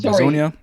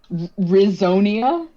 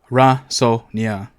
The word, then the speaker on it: Razonia: Think of it like resonance, like sound.